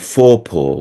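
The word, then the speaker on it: Forepaugh: put in cloes who owned Topsy was called foror which is spelled f o r e p a u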